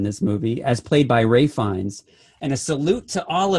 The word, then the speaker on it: Ralph Fiennes: movie, as played by Ray Fiennes. And a salute to all of you that still call him Ralph Fiennes. Because really, and L is silent.